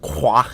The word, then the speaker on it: Croix: sorry I mean Professor Croix or as it should be pronounced quoi in French shows up to tell